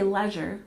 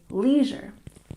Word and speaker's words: leisure: We stress the second syllable and we don't say leisure, we say leisure.